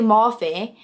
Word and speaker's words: Morphe: And oh my God, when I got Morphe wrong the other week in my YouTube video, I don't know if it's Morph or Morphe, and it's obviously Morphe.